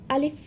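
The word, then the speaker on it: ألف: লক্ষ্য করুন যদি ভেঙে উচ্চারণ করি আ লিফ যখন আমি লিফ বলছি সেক্ষেত্রে সামনের উপরের দুই দাঁতের আগা নিচের ঠোঁটের পেটের সাথে লেগে হালকা একটু বাতাস জারি থাকবে অর্থাৎ চালু থাকবে আলিফ আলিফ লক্ষ করি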